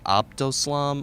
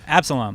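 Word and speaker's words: Absolomb: favorite Periphery song, and I can never pronounce it, Abdoslam off the new. Oh, Absalom.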